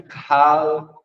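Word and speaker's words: קהל: Primeiro, o termo hebraico kahal, fala comigo, kahal, a pronúncia kahal.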